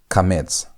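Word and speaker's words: קמץ: It's pronounced as a. That is a as in the word father. Father. That a. That a sound. That long a sound is how you pronounce the vowel kts.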